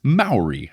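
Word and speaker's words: Māori: correction for last episode the correct pronunciation of a word I was trying to say and I hope I'm saying it right this time based on their instructions is Maori I think I was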